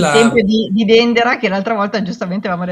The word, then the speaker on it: Dendera: Quella esempio di di Dendera che l'altra volta giustamente avevamo detto che in in egiziano in egiziano proprio moderno si pronuncia dandara, quindi proprio quel dandara.